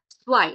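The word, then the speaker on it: zwei: আরেকটা জিনিস বলি, আমরা যখন জেড দেখেছিলাম, জেড কে জার্মান ভাষায় কি বলা হয়? স্টেট। এস এর মতো উচ্চারণ হচ্ছে, তাই না? তাই যখন আমরা সব জায়গায় যখন জেড দেখবো জার্মান ভাষায়, কখনোই আমরা জয়ের মতো উচ্চারণ করব না, সবসময় স এর মতো উচ্চারণ করব। তাই এটা উচ্চারণটা হবে হচ্ছে সোয়াই। লাস্টে এ ই আছে সেই জন্য আই হবে, আর সামনে জেড আছে সেই জন্য সোয়াই উচ্চারণ হবে।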